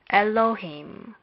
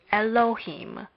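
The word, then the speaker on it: אלהים: into the following syllables first a lab is not pronounced but we must remember that it is a consonant our lab is not pronounced but it is unquestionably a consonant thus it would appear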